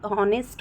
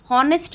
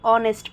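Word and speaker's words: honest: हैं ऑनर ठीक है ऐसे ही ऑनेस्ट होता है नेस्ट नहीं पढ़ते ऑनेस्ट पढ़ते हैं ठीक है सही प्रोनाउंस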